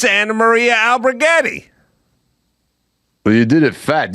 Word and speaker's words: Alberghetti: I think that's right it's just alberghetti albertis albertis let me just spell it for you real quick again Sly a l b e r g h e t t i after l i